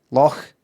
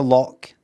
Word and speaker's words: loch: Loch. It's not lock. It's loch.